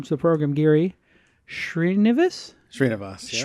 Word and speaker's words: Sreenivas: Sreenivas. Yeah. Sreenivas.